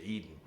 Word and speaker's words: Eden: Edin is the spelling of the word Eden in the Lost Book of Enki, okay, which is the Anunnaki book, okay, but we call it Eden, but it's the same pronunciation, Eden.